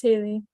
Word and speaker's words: Haley: really great thanks haley is it haley or hallie am i pronouncing it correctly your name yeah you're good it's haley haley thanks haley anyone else